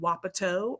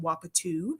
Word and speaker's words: wapato: place in Oregon is called wapato, or sometimes people pronounce it wapatu, depending on where you are.